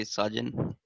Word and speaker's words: Sajan: Welcome, Sajan. I don't know if I'm pronouncing your name correctly. Yeah, it's correctly Sajan.